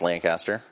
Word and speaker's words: Lancaster: Well, in Ohio it's pronounced wrong. In Pennsylvania it's Lancaster.